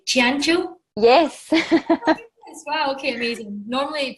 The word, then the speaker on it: Ciancio: Ciancio?